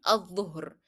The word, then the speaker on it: الظهر: And again here we are having a shadda letter after lam in in afternoon you find الظهر بعد الظهر.